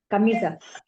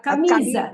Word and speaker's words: camisa: Ah, Now, Camisa. camisa has got 3 syllables. Camisa has 3 syllables.